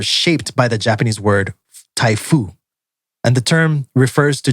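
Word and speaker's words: 台風: But in Japan, it's pronounced Typhoon with no N at the end.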